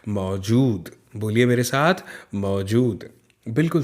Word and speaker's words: मौजूद: फिर है मौजूद, देखिए ज में बड़े ऊ की मात्रा है तो इसलिए हमने थोड़ा सा लंबा इसका उच्चारण किया। मौजूद, बोलिए मेरे साथ, मौजूद, बिल्कुल सही।